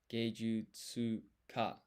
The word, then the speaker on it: 芸術家: Geijutsuka. Geijutsuka. 芸術家、 Geijutsuka. 芸術家、 Geijutsuka. Geijutsuka. Interesting again here. This is tsu, but you don't pronounce the U. So it's tsuka.